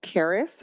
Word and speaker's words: Keres: Well, I'd like to introduce myself in my native language called Keres. It's spelled K-E-R-E-S.